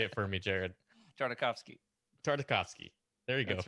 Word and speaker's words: Tartakovsky: Tartakovsky. There you go. That's right. It's like we're going to the symphony. We're going to hear a nice Tartakovsky.